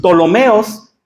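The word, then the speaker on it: Ptolomeos: Entonces, se dividió su imperio entre sus tres generales, entre los tolomeos, así se escribe con una p.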